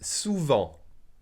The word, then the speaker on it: souvent: The adverb often is souvent. IN is pronounced en. The T is silent.